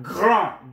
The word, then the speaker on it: grand: Now, grand, grand, grand. You don't hear the D. If it becomes feminine, then the D is pronounced.